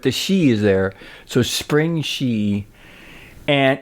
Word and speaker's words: Springshe: not spring but the she is there so spring she and it's in G which rhymes with e which is your in studio e